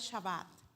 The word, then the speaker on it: shabbat: de Egipto ahí está la escritura mir se pronuncia shabbat nosotros decimos sabbat pero no es shabat ahí lo estábamos pronunciando ahí en la ahí ya con los Hermanos la pronunciación correcta es shabat eso así se escribe Así se pronuncia ese